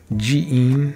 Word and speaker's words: jiin: It can be pronounced tera or ji, so jiin, Buddhist temple.